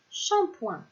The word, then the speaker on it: shampoing: Et enfin, si je prends la lettre P encore une fois, et je lui rajoute le son ouin qui s'écrit O-I-N, j'obtiens la syllabe point, comme le mot shampoing.